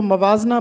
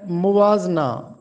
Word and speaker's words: موازنہ: نواں لفظ ہے موازنہ۔ اکثر لوگ اس کو موازنہ پڑھتے ہیں میم پر زبر کے ساتھ جبکہ درست تلفظ ہے موازنہ، موازنہ انیس و دبیر۔